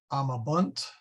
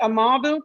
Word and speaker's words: amabunt: Is it amabunt or amabunt? The accent goes on the, for this one, the accent goes on the long A.